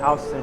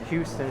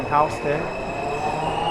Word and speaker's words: Houston: stands for south of Houston Street it's not pronounced Houston Street for those of you who like to pronounce the name like in Texas but this named after William Houston that's why the neighbor's